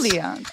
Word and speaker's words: Lyon: like the city in France. Lyon.